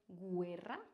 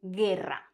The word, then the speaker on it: guerra: Are we going to say guerra? No. Here, the U is going to be silent. And the U is going to be silent if we have G-U-E, as in guerra.